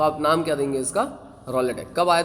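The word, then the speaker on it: Rowlatt: से य एक्ट पास हुआ जिसका नाम है रोलेट क्या नाम है रोलेट रलेट एक्ट की स्पेलिंग सबको पता है भैया आर ओ डब्लू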